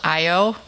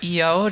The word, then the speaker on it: Io: has four big ones the innermost one is called io or eo depending on how you want to pronounce your that word i o this is how you spell it um and it's a